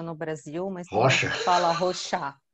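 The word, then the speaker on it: Rorschach: Rochar? A gente fala Rocha no Brasil, mas Rocha. Fala Rochá.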